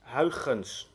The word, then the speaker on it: Huygens: So, the complete last name is pronounced Huygens. So the E is pronounced as instead of A. So his full name will be Christiaan Huygens.